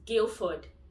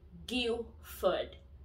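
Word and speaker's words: Guildford: it's my guilt for the d silence is guilford gilford guilford pilfered take notes guys guild food not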